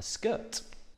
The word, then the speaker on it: skirt: A skirt. And like so many words I have done before, it has the sound. Skirt. Skirt. Whilst it has three sounds, it's one syllable.